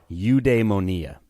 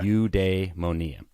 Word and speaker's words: eudaimonia: did you say that you de monia okay you de monia or it's spelled eudemonia you can say it however you want really but you de monia and most of us